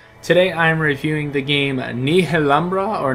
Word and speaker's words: Nihilumbra: game Ni lumbra or ni lumbra or it's it's one of those titles where everyone says it different and everyone thinks they say it right so I say Nia lumbra so just bear with me there and give me some Grace but anyways I'm playing